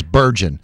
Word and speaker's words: Bergeon: And he said it's just like surgeon, but with a B. So it's Bergeon.